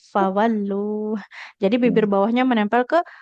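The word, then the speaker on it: فولوا: Ha hi hu dan fa enggak boleh fa ya enggak fawalu tapi fawallu jadi bibir bawahnya menempel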